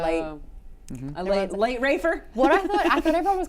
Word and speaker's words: Ralph: Rafe, yeah, I said it right.